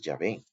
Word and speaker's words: Yahvé: el nombre de Dios, fue muy difícil posteriormente para los cristianos pronunciar correctamente el nombre de Dios a partir solamente de las consonantes. Pero el término que más se acerca al nombre divino es Yahvé.